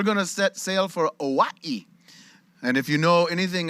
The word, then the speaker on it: Hawaii: how they pronounce it you don't say hawaii you say what he's trying to say is you pronounce every vowel hawaii but no consonants uh this is a